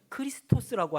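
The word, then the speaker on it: Χριστός: 예수 그리스도 마찬가지인 것입니다.이 그리스도의 헬라 원어 발음은 크리스토스라고 하는 것인데요.이 뜻은 기름부음 받은 자라는 의미입니다.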